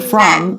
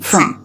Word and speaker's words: from: from anyone here from so do you hear how I'm saying this I'm not saying from I'm saying from from that's exactly how Ross said it so this word reduces we change from the